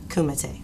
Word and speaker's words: kumite: Now, tell me about karate and pronounce it for me again. Kumite.